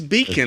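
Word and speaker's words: Bikn: this thing called a beacon b that's how you pronounce it b-i-k-n yeah it's beacon it's like b-e-a-c-o-n like uh i i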